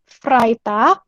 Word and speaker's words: Freitag: Dienstag, lalu Rabu, Mittwoch, Kamis, Donnerstag, Jumat, Freitag, tadi EI dibacanya I ya.